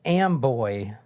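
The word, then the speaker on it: Amboy: Dixon where we're going is am boy like I am the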